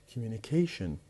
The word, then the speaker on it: communication: The same is true for communicate, communication, communicate, communication. The stress will be moved from the second syllable to the fourth syllable, the one before the last.